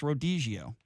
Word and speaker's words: Rodizio: Did I pronounce it wrong? It's Rodizio.